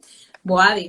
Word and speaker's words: Bouadi: Boadi, ¿no? Con acento en la I, ¿no?